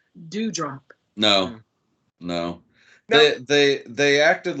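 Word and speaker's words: Doudrop: It's spelled weird, but apparently it's Dewdrop.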